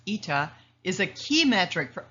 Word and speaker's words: eta: Demand elasticity, denoted by this funny looking N pronounced ETA, is a key metric for understanding consumer sensitivity to price changes.